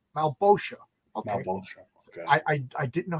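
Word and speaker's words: Malebolgia: So Great Gold Worm is giving me a pronunciation guide. It's Malbosha. Okay. Malbosha.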